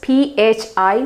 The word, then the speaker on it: phi: This pronunciation is PHI phi.